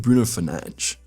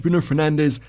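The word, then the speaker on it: Bruno Fernandes: It's actually going to be Bruno Fernanch. So, Bruno Fernanch, Bruno Fernandez. I know there's always a lot of comments about my pronunciation. And you guys can go with whatever one that you want.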